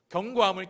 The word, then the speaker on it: 견고함: 견고함, 발음을 잘 하셔야 돼요. 첫 번째는 경고함이었고, 견고함을 경외함으로 받았을 때 세 번째 마지막으로 얻는 것은 견고함입니다.